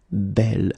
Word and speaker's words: bel: So it's actually quite interesting because in this case, beau homme, well, you can see that phonetically it's quite challenging to produce.